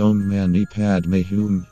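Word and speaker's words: Om mani padme hum: meaning and help you avoid distraction Amani padam pronounced ohm mani padme whom this translates to hail to the jewel in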